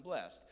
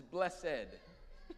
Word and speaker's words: blessed: And you say, I'm blessed. It's sort of a momentary or a relatively short-term testimony. I'm blessed. But I think that we're going to use a different pronunciation. This is blessed. It's 2 syllables.